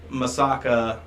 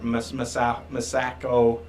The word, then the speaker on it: Masako: Yeah, but they used Masaka. I think that's how you say her name. Masako.